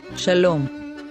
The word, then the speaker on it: shalom: sign is called so we have a sha an l sound an o sound and an m sound so we say shalom now you can say